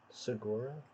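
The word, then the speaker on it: saguaro: u a r o you pronounce that Sora something like that Texas ones nice that's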